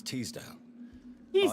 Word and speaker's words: Teasdale: Miss Teasdale.